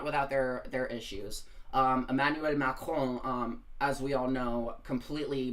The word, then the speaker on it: Macron: And it's funny how I say France, but I say Emmanuel Macron. It's like I pronounce Macron's name properly, but I don't pronounce France properly.